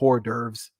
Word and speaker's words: hors d'oeuvres: hors d'oeuvres out there yes i say like hors d'oeuvres that's how you say it i don't know why americans change it i don't know why i don't know why hor nerves that's how the brits say that's how i say it and you could just